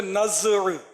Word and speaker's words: نزع: تھی اس پر کہ نزع جو ہے اصل اس کا تلفظ ہے نزع. زا جو ہے یہ ساکن ہے، جزم ہے اس پر.